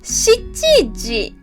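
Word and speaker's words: 七時: And the next one, 7 o'clock, we say 7時. Not 7. 7時. And the last exception is 9 o'clock. We pronounce it 9時.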